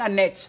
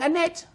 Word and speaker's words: Annette: Nama istri saya Annette. Tapi mereka berkata, coba kamu sudah bilang Annette. Saya bilang tidak, saya tidak bilang Annette. Saya bilang Annette.